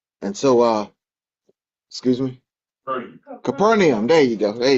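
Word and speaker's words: Capernaum: And so, uh, excuse me, Capernium.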